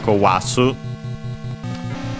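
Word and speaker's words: 壊す: Let's check its accent. Means to destroy. Accented. So kowasu, to break, to destroy.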